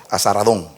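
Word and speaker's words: Esar-hadón: a Él ofrecemos sacrificios desde los días de Azaradón, porque se pronuncia así, por Sargón II, rey de Asiria, que nos hizo venir aquí.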